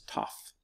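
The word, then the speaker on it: ταυ: we have a top this one looks like a tee and sounds like a team all right it's name is tough the next one looks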